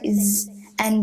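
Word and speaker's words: زاي: There's an alif at the end. First you say z, and then the alif sound that makes it longer.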